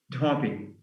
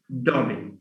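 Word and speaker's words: dhobi: for washerman, which is dhopi. Dhopi. Because da and ha, an aspirated da, that is, yeah, does not occur initially in English. Instead, he will say dobby without dobby.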